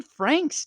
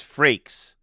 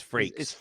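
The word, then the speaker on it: Frakes: and that is and it's freaks oh did I say Frank's like the like you did say Frank's like Franks and Beans but it's freaks yes breaks freaks ooh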